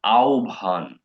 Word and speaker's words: আহ্বান: ঠিক আছে, যেমন আহ্বান, আমি আপনাকে আহ্বান করছি, আউ ভান করছি, ও আর ভ দিয়ে এটা রিপ্লেস হয়।